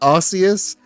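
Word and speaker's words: Arceus: They can't decide how to pronounce Archus. Archus. For a while they for a while they tried to make it Arius and then they learned that that that's got the word ass in it and you can't you can't have that.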